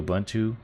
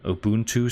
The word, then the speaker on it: Ubuntu: so this video is about how to install Ubuntu Ubuntu sorry keep saying it wrong right here so